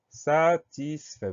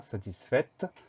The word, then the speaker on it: satisfait: Première syllabe, sa, S-A, pas de piège. Deuxième syllabe, tis, T-I-S, pas de gros piège non plus. Et troisième syllabe, fait. Alors là, c'est plus compliqué. F-A-I pour avoir le son E. Et ensuite, on a un T muet.